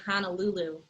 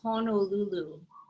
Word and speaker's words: Honolulu: teased me pretty bad i'd say honolulu there's no h-a-n-a it's actually honolulu i aloha wait to